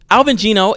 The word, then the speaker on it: Alvin Geno: So Alvin Geno is an animator, a cinematic animator.